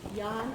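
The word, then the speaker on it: Danh: So this here is a work by Jan Bo, D-A-N-H, Bo. The D is pronounced like Y in Vietnamese.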